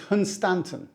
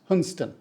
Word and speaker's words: Hunstanton: oldest human settlements in the UK next is hunstanton another norfol gem now I put this one in because people say it's pronounced hunston but I've been looking at other YouTube videos and they pronounce it hunstanton like walk with me Tim who I think